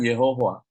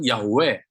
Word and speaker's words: Yahweh: Zhongwen dalam bahasa Chinese diterjemahkan Yehovah. Nah, sampai sekarang masih tetap Yehovah. Jadi sudah mulai orang mengikuti YHWH. YHWH bacanya apa? Susah juga bacanya, nggak bisa dibaca. Jadi akhirnya orang sebut Yahweh, Yahweh.